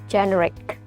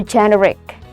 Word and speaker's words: generic: Even though there are two e's here, but they are pronounced differently. This one is while this one is so generic. Don't forget the emphasis is here, so generic, okay.